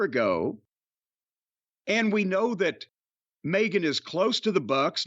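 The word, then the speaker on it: Megha: It's not Megan. Mega.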